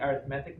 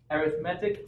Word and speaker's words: arithmetic: with what's called the arithmetic method arithmetic is the adjective arithmetic is the noun but they're spelled the same way you know they're pronounced differently so the arithmetic method considers